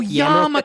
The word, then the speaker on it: yarmulke: Dude, when I but you pronounced it was like, flawlessly. what's a yamalki? Yamalki? Oh, yarmulke.